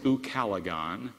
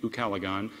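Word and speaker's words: ucalegon: a favorite word in English yes it is UK calagon it's spelled u c a l e g o n UK calagon it means a neighbor whose house is on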